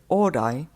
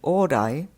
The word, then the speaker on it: ōrai: Although the O in orai and the A in all right are not the same vowel, they nevertheless are both back vowels and thus close enough to sound similar with distorted pronunciation.